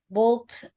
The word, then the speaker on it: bought: Hernia bought a pretty necklace when she went to the mall last night. Ya, GH-nya itu nggak dibaca ya, Kak. Silence.